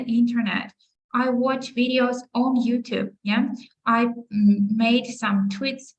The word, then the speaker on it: YouTube: Ну, тобто, ми вимовляємо назву соцмереж, наголошуючи перший склад. So we say Instagram, Facebook, TikTok, YouTube, content, laptop, internet. То ми ударяємо наголос на перший склад.